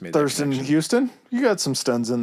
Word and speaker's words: Houston: It's Houston. Everything in my mind wants to say Houston.